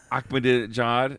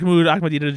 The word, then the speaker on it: Ahmadinejad: Ahmadinejad. Is that right? He's Ahmadinejad.